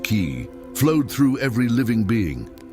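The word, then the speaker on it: qi: The invisible vital force called ki, pronounced ki, flowed through every living being.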